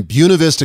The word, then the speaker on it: Buena Vista: month of July in Buena Vista Colorado and yes that's how they say it out west but I thought I'd